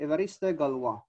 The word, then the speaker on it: Évariste Galois: This is the pronunciation, Évariste Galois.